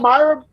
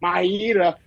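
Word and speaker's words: Mayra: We got Myra, or for whatever reason they kept saying Maida, adding an extra syllable.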